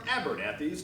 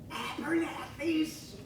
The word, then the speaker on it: Abernathy's: But first, here's a word from Abernathy's department store.